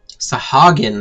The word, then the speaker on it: Sahagin: A seat of honor at the celebratory feast is the least I can offer the man who foiled the Sahagin. Sahagin, that's how you pronounce it.